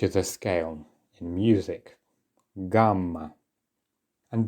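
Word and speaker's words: гамма: in music gamma and do notice that letters in Russian can also be doubled it's many consonants that you see this happen to and the principle is exactly the same you just lengthen the sound a little bit gamma all right okay no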